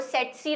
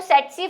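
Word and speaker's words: tsetse: अब इसकी स्पेलिंग पे ना जाए, क्या करूं, साइंटिस्ट ने स्पेलिंग ये ऐसे बनाई है, मैम बोल सेट्सी रही है, लिख टीसी रही है, तो इसको सेट्सी फ्लाई ही बोलते हैं।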